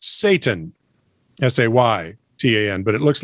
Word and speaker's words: seitan: As you know, vegan roasts are made with seitan, pronounced Satan, S-A-Y, T-A-N, but it looks like S-E-I-T-A-N. Well, that's how it's spelled. It's just pronounced Satan.